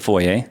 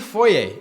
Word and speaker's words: foyer: is the foyer right isn't that what it's pronounced the british way this is the foyer this is the foyer and as you can